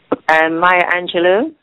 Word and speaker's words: Maya Angelou: Gus, how do you pronounce that? Maya Angelou.